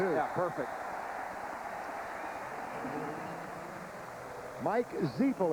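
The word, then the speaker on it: Zifle: Mike Zeil. It's spelled Z I F L E pronounced Zel.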